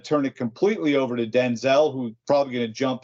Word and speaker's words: Denzel: It's because it follows the British spelling. They would say Denzil. Denzel.